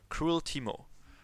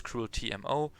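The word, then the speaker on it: CruelTeemo: how is it pronounced it's pronounced crueltimo so basically imagine there is a DOT between the T and the mo so it's Teemo cruel Teemo that's basically how it should be pronounced probably a lot of people think it's crew TMO some are maybe confused but there's a free instead of an e okay so let me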